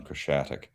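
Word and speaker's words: Khreshchatyk: an interview right on the downtown strip on Krashatik. That's how you a month pronounce or that.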